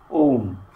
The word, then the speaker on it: ওম: করে বলে দেওয়া হলো, আলাদা করে ওমটা উচ্চারণ করবে। এটা আলাদা করে একটা ভাবকে ক্যারি করে থাকে। এই শব্দ ওম মানে ওম ইতি, এটা তিনটে শব্দ দিয়ে হয়, তিনটি অক্ষর দিয়ে হচ্ছে, অ, উ আর ম।